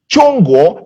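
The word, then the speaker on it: 中国: in the chinese definition of china which is pronounced chongo and in that instance i'm speaking under the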